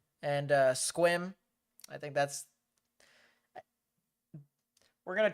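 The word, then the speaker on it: Sequim: It's like swim, but with a Q. Gotcha, so squim.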